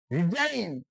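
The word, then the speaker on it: resign: এখানে জি উচ্চারিত হয়নি আর ই এস আই জি এন রিজাইন পদত্যাগ করা এখানে রিজাইন উচ্চারিত হয় নাই তো আমরা নেক্সট পার্ট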